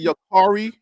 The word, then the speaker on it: Yakari: So he pronounces it Yakari.